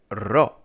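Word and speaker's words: ρο: For this one, you really have to roll your R, and it can be difficult in the beginning.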